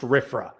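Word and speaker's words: RFRA: passed the religious freedom restoration act RF it's pronounced rifra and there were good intentions again this is a democratic under a Democratic president there were good reasons for passing rifra uh the legislation would protect religious freedom in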